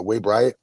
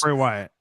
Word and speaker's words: Bray Wyatt: light that uh way used to perform uh way bryatt did I say it right Jesus Christmas Bray Wyatt Bray Wyatt let me not reverse his name